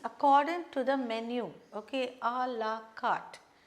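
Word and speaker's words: à la carte: to the menu okay alaat this this again is a French word allart according to the menu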